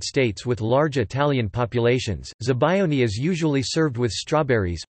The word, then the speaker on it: Zabaione: Zabaione, Italian pronunciation, Zabaione, or Zabaglione, Zabaione, is an Italian dessert, or